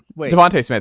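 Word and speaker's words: Devonta Smith: uh or you said Donovan SM deont wa Devonte Smith excuse me oh yeah I was like you're saying his name wrong and now I'm blanking on what his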